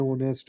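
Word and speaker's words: honest: सो जैसे कोई वर्ड आ गया words beginning with अ silent H. जिस कोई ऐसा वर्ड जिसमें एच साइलेंट होती है। जैसे and hours an ऑनेस्ट एन ए hair.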